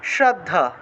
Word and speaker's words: শ্রদ্ধা: তাহলে এখানে উচ্চারণটা হবে ইয়াত, এই যে যত আছে জ তারপরে চ আছে সেজন্য ইয়াত উচ্চারণ হয়েছে, আর এই ছটা নিচে রফলা তাহলে শ্র উচ্চারণ হয়েছে, শ্রদ্ধা।